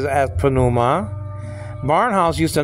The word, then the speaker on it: pneuma: A spirit, but pneuma, the old Bible teachers used to just say pneuma, then he mentioned the P. I guess that's English influence getting into the Greek pronunciation.